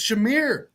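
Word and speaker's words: Shemar: Like you angrily clicked like you take Shamar Stewart. You take it and you're like, "Oh, that that actually makes sense." Uh, it's Shamir. You're pronouncing it's Shamir.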